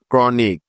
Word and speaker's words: chronic: যেমন CHRIST ক্রাইস্ট, CHRISTIAN Christian, CHRISTMAS Christmas, CHROME ক্রোম, CHRONIC ক্রনিক, CHRONICLE ক্রনিকল, etcetera.